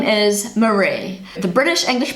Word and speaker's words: Maree: So the IE is the more sort of popular way of spelling it, but her name is still pronounced Maree.